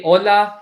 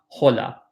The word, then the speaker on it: hola: el a hola but we don't pronounce the H so we say hola and not hala all that's correct holla is wrong hola correct